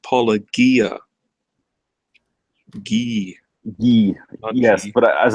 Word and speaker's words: Paulogia: you're on board with us yeah it's it's pronounced Paul Agia ye ye yes but as I said I